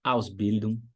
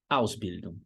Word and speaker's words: Ausbildung: técnico na Alemanha, então, Ausbildung, Ausbildung, sílaba tônica é a primeira.